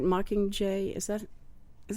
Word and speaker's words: Mockingjay: that are besides the mucking in that right Mockingjay is that is how you say it yes